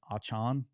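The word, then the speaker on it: Achane: I guess he's now saying his correct pronunciation of his name is I think it's Achan. Mm-hmm. I can't. He's gonna be A-Chain to me because I can't get that out of my head.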